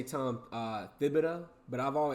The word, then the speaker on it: Thibodeau: And is it is it Thibido or Tibido? Because I've heard it pronounced both ways. I always say Tom uh Thibido, but I've I've also heard like the H is silent, you know, like Django.